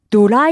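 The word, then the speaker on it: ドライヤー: for at a hotel hair dryer which in Japanese is simply dura. Yeah. This sounds similar to dryer doesn't it? Mhm. That's because is simply the Japanese pronunciation of the word dryer.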